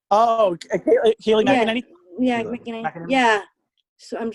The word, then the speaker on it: McEnany: I'm so McGinney. Oh, Kayleigh McEnany?